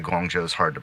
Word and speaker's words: Guangzhou: It's not like I mean, for most. many people, because there's no actual J in it. Yeah, I mean, I guess the ZH throws people off, but It does, and that's dumb.